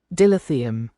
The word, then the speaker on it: dilithium: Dilithium.